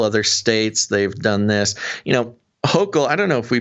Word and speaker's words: Hochul: This is New York Governor Kathy Hochul. Is that how you say it? Hochul? Uh-huh.